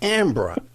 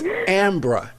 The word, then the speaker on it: Ambra: Now, it's Ambra, A-M-B. We were just laughing about this off there. It's Ambra, A-M-B-R-A. Then it's HuemanSol, but it's spelled H-U-E-M-A-N-S-O-L.